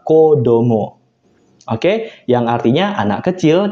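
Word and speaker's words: 子供: Kemudian contoh yang keempat, nah ini juga spesial minasang, ketika kanji kecil ditambah kanji hito, itu dibacanya bukan ohito, kohito bukan minasang, tapi dibacanya spesial kodomo.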